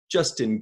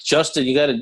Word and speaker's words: Juston: Juston, you spell your name with an O, Juston. Yes. There's a story behind that. It's pronounced like Justin, but Right.